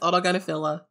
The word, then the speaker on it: autogynephilia: And that word is autogynephilia. We have Dr. Ray. Not even saying it right. Autogynephilia. Autogynephilia. Yep, it's autogynephilia.